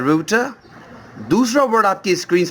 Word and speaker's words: router: हम में से बहुत सारे लोग इस वर्ड को और इस डिवाइस को राउटर बोलते हैं, जबकि इस वर्ड की असल प्रोनाउंसिएशन है रूटर और ये वर्ड निकला है रूट यानी कि रास्ते से.